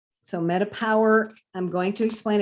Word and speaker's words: metaPWR: ahead and jump into the Met metapower it's pronounced metapower so metapower I'm going to explain it's multiple products and